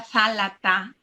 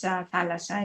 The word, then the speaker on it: θάλασσα: Antes era zálata, en vez de thalassa, de S, era ta, y se decía, se pronunciaba zálata. Pero hoy en día es thalassa, es una palabra muy bonita que ayuda mucho.